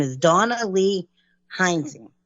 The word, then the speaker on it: Rising: Her name is Dawna Lee Rising. Or I'm saying it wrong again. No, it's Rising. No, I got to say it like 3 times.